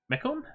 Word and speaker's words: Mekone: want to go over Makonnen my comb I think it's my comb I cut a hard time finding a correct pronunciation example of it online all I know is it's Greek it sounds vaguely correct anyway so this is